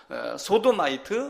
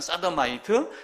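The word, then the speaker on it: sodomite: 하는 단어를 용우 단어로 소도 마이트 뭐 정확하게 발음하면 싸던 마이트 이렇게 이야기를 하고 있죠 자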